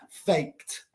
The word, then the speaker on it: faked: Fake se escribe con K. No es de ni es te, es K. So we pronounce it faked. Faked. Sin el E. Porque no es de ni es te. So no se pronuncia faked, se pronuncia faked.